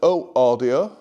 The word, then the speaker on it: Ø Audio: These are the Oh Audio polish if pronounced that incorrectly.